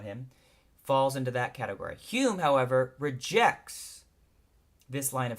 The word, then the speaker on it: Hume: was because he was Scottish H ome s pronounced Hume and she got so annoyed with people mispronouncing